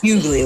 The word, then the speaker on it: Hughley: Hughley, like D.L. Hughley.